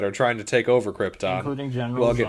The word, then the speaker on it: Krypton: Or, sorry, it's pronounced Krypton, according to Jor-El. Oh, yeah. Yeah. Krypton.